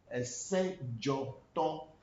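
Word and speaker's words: Dzoto: It's not Sejoto. Not Sejoto. Sejo. Now, when we want to write it in every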